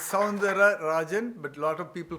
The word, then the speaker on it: Soundararajan: It's Sandra Rajan but a lot of people call me Dr.